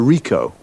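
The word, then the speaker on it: Ricoh: a camera what make and model it's a rico rico how do you spell that r-i-c-o-h okay got that now you say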